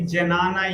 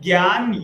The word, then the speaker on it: Jnana: So here, like some spelling I see Janana yoga people read. So it's a Jnana or so basically the correct pronunciation is Gyan yoga.